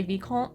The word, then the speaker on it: vicomte: I guess I just first heard the word in French, so I say Vicomte, like from the French pronunciation, which I now realize is a bit weird.